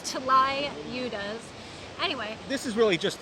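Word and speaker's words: tlayudas: that's a pretty difficult one to spell and pronounce it's like t l y u d a s UDA right it's T Li udas anyway this is really just in Waka or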